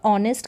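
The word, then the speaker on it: honest: हम पढ़ेंगे नहीं तो ऑनेस्ट ओ से इसका उच्चारण हो रहा है और ऑनेस्ट का मतलब होता है ईमानदार माय फ्रेंड इज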